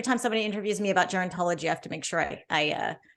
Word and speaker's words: gerontology: did you learn in guarantology that show like that says how should we be exercising as we're aging so gerontology says did I say it wrong again yeah it's okay think of it Jerry so geriatrics positions like